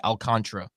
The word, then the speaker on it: Alcantara: this day don't understand why they pronounce it alcantra when it is spelled Al kanterra do you think maybe